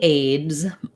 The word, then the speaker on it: aids: And so I can see why this would be challenging, that for pronouncing aids, what you want to do is think about first saying it with your D sound.